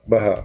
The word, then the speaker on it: Baha: Baha'uddin. No, just Baha. Baha.